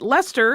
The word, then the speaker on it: Leicester: is another story but Lester and that is spelled the same way that the city in England is spelled but it is pronounced Lester similarly much younger than